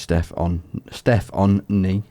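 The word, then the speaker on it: Stefanie: Spelled it like Stefan and then knee, as in your knee and your leg. Right. Weird. Pronounced Steph on knee.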